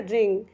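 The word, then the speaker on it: wring: मतलब गिरना होता है डब्लू आर आई एन जीी को हम पढ़ते हैं रिंग यहां पर डब्लू साइलेंट है तो इसे हम रिंग पढ़ेंगे रिंग का मतलब होगा मरोड़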